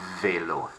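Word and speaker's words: vélo: glass and finally fedor velo velo not velo notice that there is an accent on the e they low makes it a bit of an a sound and what could that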